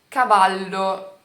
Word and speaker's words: cavallo: Você vai tentar colocar o L, você vai segurar o L ainda mais pra pronunciar, por exemplo, cavallo, alla, entendeu?